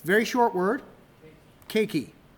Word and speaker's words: keiki: What we're looking for is 2 syllables, keiki.